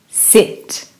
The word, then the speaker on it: sit: Sit. Can you hear the I sound?